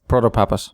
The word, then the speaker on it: Protopapas: And I said, "Well, what if you just read all the name all the letters in succession, it it will work out just fine."